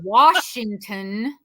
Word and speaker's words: Washington: might get shot and Washington does not have an are in it that's right it is Washington and Idaho is not